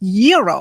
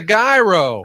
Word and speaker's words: gyro: the gyro Supreme suddenly the lady behind me chimes in it's pronounced Euro then the fella behind her says it's a gyro I turn my back